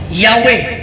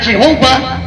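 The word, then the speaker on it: Yahweh: nagtudlo mga reperensya ng ang pangalan sa amahan ang lit base saens yahwe ang Jehova mga ang Jehova wrong pronunciation wrong spelling recent invention false reading daghan pa angul sa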